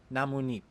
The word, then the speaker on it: 나뭇잎: This is because shiot in the patsim becomes digut, and when digut runs into an iung, a nasal character, it becomes nian, so it is then pronounced 나뭇잎.